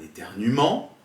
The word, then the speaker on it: éternuement: Soit un E, par exemple un éternuement, je nettoierai, nous jouerons. Vous remarquez ici qu'on ne prononce pas le E quand on lit.